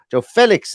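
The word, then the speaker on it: João Félix: arts and Joe Felix Joe Felix as I've been told it's pronounced in the chat there um on up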